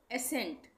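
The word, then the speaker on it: ascent: ये है यहाँ पे एसेंट, यहाँ पे सी का उच्चारण नहीं हो रहा है, एस का हो रहा है, सी का नहीं हो रहा है, एसेंट। यहाँ पे एसेंड, यहाँ पे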